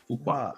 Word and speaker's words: Fuqua: Fuqua.